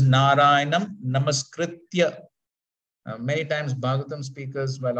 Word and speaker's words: Narayanam Namaskritya: So please note it is Narayanam Namaskritya. Many times Bhagavatam speakers, while offering this praise, they say Namaskrityam, to rhyme with Naram Chaiva Narottamam, Namaskrityam Narottamam.